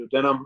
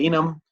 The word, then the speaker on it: duodenum: just talked about the duodenum now I pronounced that way I've had instructors and my schooling called the denim I've also heard it called the duodenum this is a shortish